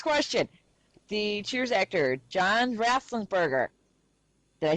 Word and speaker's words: Ratzenberger: The Cheers actor, John Rathlinsberger. Did I say it right? Mm-hmm. John I think Ratzenberger.